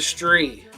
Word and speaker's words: Stree: how spicy was the street I'll start Stree rhymes with three was horribly spicy